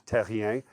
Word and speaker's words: Terrien: Proper pronunciation of my name in French is Terrien.